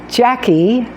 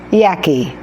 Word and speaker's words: Jackie: It means grandmother in Gaelic, and I used that because when I went to Mexico, they pronounce Jackie as Yaki. Yaki.